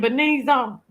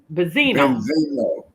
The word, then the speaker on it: Benzino: Benzo Benzino.